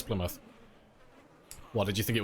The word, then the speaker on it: Plymouth: expensive that's how you oh that's how you pronounced Plymouth yeah it's Plymouth what did you think it was Plymouth I was going down to Plymouth is I is got to sell my ters it's pronounced Plymouth yeah get off me land let me let